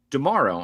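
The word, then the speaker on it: D'Amaro: Um yes, Josh Dearo. I have to keep reminding myself that's how you say it, like Tomorrowland.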